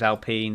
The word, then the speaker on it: Alpine: It's spelled Alpine, but the French pronunciation is Alpine.